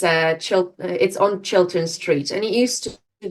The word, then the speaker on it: Chiltern: Yes, it's like children, but it's with a T. Chiltern. It's similar word to children. It's called after its street. So it's on Chiltern Street, and it used to be a fire brigade house.